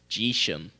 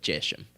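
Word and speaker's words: Geshem: a YouTube video of this British guy trying to tell me how to pronounce this and he said it's jisham I don't think it's Jason I'm going to go with jeshem uh I don't trust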